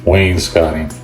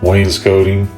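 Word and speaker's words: wainscoting: like so and again Wayne scotting I've always said it wrong I'm from the south we call it Wayne's coating so usually the way in the South they they put the S on the end of the N so it's Wayne's coating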